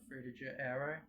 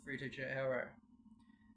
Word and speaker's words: Frutiger Aero: I'm gonna probably mispronounce this, but Frutiger Aero. That's how I personally pronounce it.